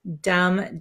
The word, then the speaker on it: dumb: dum dum so Dum as you can see there's a b at the end here dum dum um so we don't pronounce the b okay so it sounds just like d m dum Dum and if you